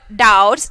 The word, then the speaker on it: doubts: convey through this sentences in the word doubts the letter b is silent it means that we do not pronounce it while reading the word similarly the letters d